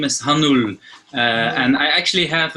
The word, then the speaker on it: Hanoulle: with that so my my last name is hanul uh and I actually have a small like